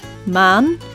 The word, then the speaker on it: maan: tuck ah as in the word man which means means moon in English man hear the difference talk man e as